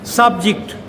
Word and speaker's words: subject: So this is stress is on the first syllable. Subject. Physics is an interesting subject.